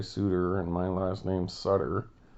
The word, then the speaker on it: Sutter: He must be like French Canadian because he goes by Suter and my last name's Sutter.